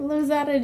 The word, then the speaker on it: Lozada: junk from china india yeah so we're at lazada jewelry right that's how you say it lose out of jewelry who do we have here erica hello